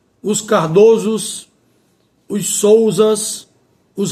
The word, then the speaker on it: Souzas: Os souzas e os raposos, vogal fechada é por fia. Aqui nesse caso, em relação a esses nomes próprios de família, nesses quatro casos mencionados, o não muda o timbre, ou seja, não sai do timbre fechado para o som aberto, permanece no mesmo timbre, o timbre fechado.